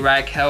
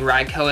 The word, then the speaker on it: Raikou: Or some may pronounce it Raikou. I think Raikou is the correct pronunciation, but I've just been calling it Raikou for so long.